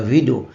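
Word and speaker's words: Guido: প্রোনাউন্সিয়েশনটা তো অদ্ভুত জি আই ডিও হলেও ওটার উচ্চারণ ওই গাইডো বা এই জাতীয় কিছু হয় না ভিডো ভিডিও রোসাম প্রোনাউন্সিয়েশনটা এরকম হয় পাইথনের ফাইল যেগুলো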